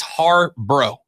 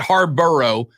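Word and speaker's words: Harbaugh: finally meets ohio state it's har bro because there are two of them right they're har bros there's jim and there's john they are it's it's hard bro not harborough hard bro it's it's not hard bro right it's not that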